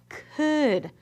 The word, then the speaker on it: could: Recuerda las letras fantasmas y en esta palabra la "L" es una letra silenciosa. No hacemos ese sonido. Así que la convertí en una letra fantasma para nosotros. Así que veamos si podemos pronunciar estas letras o mezclarlas, ¿listo? C-OO-D, ¿cuál es mi palabra? "Could" , pero ya ves cómo se escribe: C-O-U-L-D. Ahí está esa letra silenciosa, no la olvides.